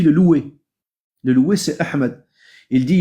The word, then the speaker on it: Ahmed: Le ha est devenu et le d le dal est devenu ta. Au lieu de dire Ahmed, ils vont dire Ahmad.